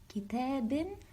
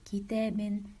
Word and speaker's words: كتاب: Okay, but if I told you to stop on this word, kitabin, you would not say kitabin, you'll say kitab with the sukun sign of the ba letter.